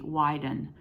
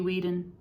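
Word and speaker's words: Weiden: by David heska wandley Wyden w-e-i-d-e-n it could be Whedon but I grew up uh very familiar with Germanic languages and uh e i is pronounced I my brain so anyway I will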